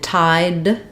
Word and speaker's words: tide: in tide tide um we're just closing the our lifting the tongue behind the teeth to say r d tide tide um if I'm saying the tide is tide is you're going to hear that D linking stronger if I said the tide that the tide that we had we're going to use an unreleased D so how the D sounds at the end depends on the next vowel when I'm saying tithe